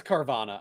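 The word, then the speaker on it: Carvanha: It is Carvana.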